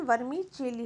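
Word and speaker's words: vermicelli: बोलते हैं वर्मी चिली इसका जो स्पेलिंग एक्चुअली वर्मी शैली होता है but pronounce session वर्मी चिली होता है अगला होता है अचार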